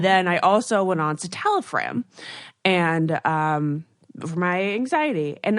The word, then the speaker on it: citalopram: But I realized within like 9 months ish, I was like, Lauren says it's citalopram. Yes, citalopram. Okay, it's not a fram.